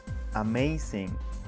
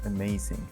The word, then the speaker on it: amazing: If you don't know how Schwa works, you may pronounce amazing, but if you pay attention to the first letter, you will recognize the unstressed sound, and the right pronunciation is amazing, not amazing.